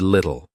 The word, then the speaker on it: little: James didn't pronounce the in granted or little. He used a glottal stop instead. Granted little.